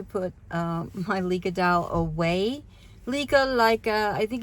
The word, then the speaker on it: Licca: Lika, I think it's her in Japan. Her name is pronounced Rika, but I call her anything from Lika to Leica.